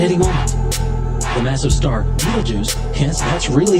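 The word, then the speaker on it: Betelgeuse: supernovas literally at any moment the massive star real jews yes that's really how you say it it's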